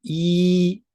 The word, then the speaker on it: 一: Next, E sounds as EE in English words such as see, keep, beep.